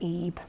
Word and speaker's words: Ib: case in 2012 game ib pronounced on eb which was available free